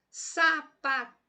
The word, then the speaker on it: sapatear: Eu falo sapatear, ó, sapatear. Fala baixinho as outras sílabas se você se confundir, se você não está bem sincronizado aí em descobrir a sílaba tônica desse jeito. Olha só, sapatear. Eu falo assim, opa, me soou melhor esta última sílaba como sendo uma sílaba mais intensa, uma sílaba mais forte.